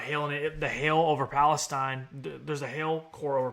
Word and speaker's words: Palestine: It's Palestine. Man, I am so bad at mispronouncing Arkansas city names. Palestine.